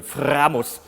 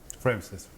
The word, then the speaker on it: Framus: And I just played this idol maker from Framus, which is how you say it in German, Framus. With a big R, no, Framus. But you Americans probably want to say Framus or Frames.